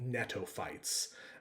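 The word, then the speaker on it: gnetophytes: That's a silent G here. Netoighter. Uh, members of this film are called netophites.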